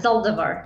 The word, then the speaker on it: Zaldivar: Did I pronounce it right? Yeah, Zaldivar.